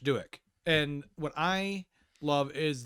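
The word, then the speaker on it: Douek: is by rich and i found out how to say this it's rich dueck rich duik and what i love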